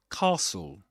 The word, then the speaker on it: castle: And let's let's watch this shorts on the word castle on how to pronounce it.